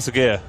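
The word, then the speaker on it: Sağır: 2008 oh the young uh Tanner sa Tanner AAR yeah yeah yeah yeah s yeah is that how you pronounced that's how it's pronounced oh wow I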